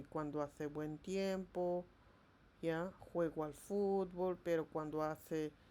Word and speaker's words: juego: We don't say juego or jogo. We say juego.